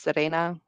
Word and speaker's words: Sirena: um Serena Scarlet fatal Serena is actually spelled s i r n a it's pronounced Serena um Serena Scarlet fatal